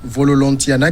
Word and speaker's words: Vololontiana: Tu sais que les Malgaches ne prononcent pas la dernière syllabe. Oui, donc c'est Vololontian. Voilà, justement.